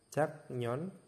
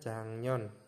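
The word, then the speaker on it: 작년: hangguk di sini ada Jak non dibacanya jangnyon oke terus ada lagi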